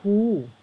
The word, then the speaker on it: Who: Who ค่ะ อ่าน ว่า Who อัน นี้ ออก เสียง Who เหอะ นะ คะ W นี่ ไม่ ออก เสียง เห นะ ออก เสียง เหอะ อ่าน ว่า Who ซึ่ง จะ แปล ว่า